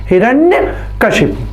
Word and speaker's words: हिरण्यकशिपु: और इसका उच्चारण क्या होगा, हिरण्यकशिपु।